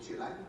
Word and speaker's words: Chile: know what it's like in what he called Chile, which I agree is the right way to